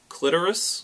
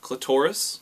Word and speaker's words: clitoris: pronouncing this one correctly it's clitoris not clitorus cliteris clitores just